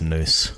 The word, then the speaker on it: Nous: I always pronounce that now, so I'm gonna have to remember it's Noose.